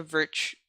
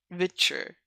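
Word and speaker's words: Viture: It's called Vitcher. Oh, Vitcher. Somehow that made it easier for me to pronounce. Thank you. Vitcher. I've been calling it Virtue all this time.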